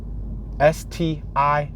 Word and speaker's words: Stiles: S-T-I-L-E-S. Not like traditional hairstyle, but you can almost probably pronounce that Stiles. But it's Stiles.